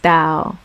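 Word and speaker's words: Tao: it so much better so it's pronounced thou like towel it's a love though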